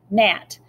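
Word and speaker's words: Gnat: for His Majesty's ship NAT so the G is silent like other gunboats the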